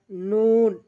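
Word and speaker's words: نون: এরপর আমরা নুন উচ্চারণ করব। জিহ্বার আগা তার বরাবর উপরে তালুর সঙ্গে লাগাইয়া নুন। তাহলে আমরা জিহ্বার আগা তার বরাবর উপরে তালুর সঙ্গে লাগাবো নুন, নুন।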